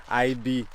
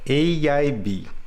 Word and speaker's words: AIB: Você vai no IB. Não. A pronúncia correta é AIB.